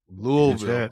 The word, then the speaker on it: Louisville: from Ali's Hometown Kentucky Lille Kentucky louville I learned how to say it correctly from you louville and the work you